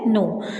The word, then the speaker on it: know: के जो होता है ना वो साइलेंट होता है, के को नहीं हम लोग प्रोनाउंशिएट करते, नहीं बोलते हैं, आई नो बोलते हैं।